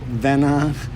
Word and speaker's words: Vanna: So, welcome back to Steve Holmes Porn on YouTube with Vanna Bardot. Do I pronounce it right, Vanna?